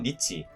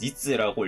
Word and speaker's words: 日: 음독으로는 1순위로 니치, 2순위로는 니츠라고 읽히는 그런 음덕이 있습니다.